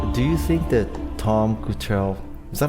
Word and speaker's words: Kuchel: Do you think that Tom Kuchel, is that how you pronounce it? Kuchel? Tom Kuchel? Keuchel. Keuchel? K-U-C-H-E-L? K-U-C-H-E-L. He's pronounced Keuchel?